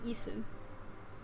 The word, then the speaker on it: 椅子: I have a squeaky isu. 椅子 Isu. You actually don't quite pronounce the isu, the u on the end, so harsh.